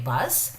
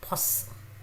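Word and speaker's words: 버스: So we will say bus, but they will say pos, pos, pos, pos, pos. So the s, bus, the sound at the end is like pos, pos.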